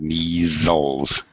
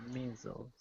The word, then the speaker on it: measles: measles by the way it's a z sound measles measles s Sor maybe okay